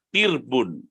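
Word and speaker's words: ترب: bentuk jamak dari kata tirbun dari kata telepon kata telepon Sendiri Bacanya adalah bikasrita membacanya dengan huruf ta berharakat kasrah yang sukun dan dengan huruf ra yang sukun Oke jadi ini tentang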